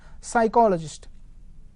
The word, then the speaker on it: psychologist: psychologist pronounce it as psychologist p is silent here so psychologist is nothing